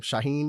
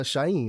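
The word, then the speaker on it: Shauhin: on his Twitter like how to pronounce his name Shaheen is a acceptable pronunciation so is shahen like like without the second like H pronunciation the silent as well but I do think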